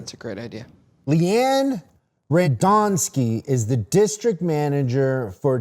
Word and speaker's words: Radonski: No, it's Radonski. Rad on skis.